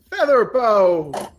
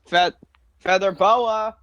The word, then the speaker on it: Featherbow: Oh, my name is Featherbow. Featherboa. Featherbow. Featherboa. Ah, Pronounced Featherbow.